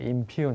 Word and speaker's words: impugn: 발음 잘 안 될 수 있어요. impugn. 이거 발음 어떻게 하나 그렇게 하지 말고요. 발음 안 돼요. 이게 impugn 이렇게 됩니다.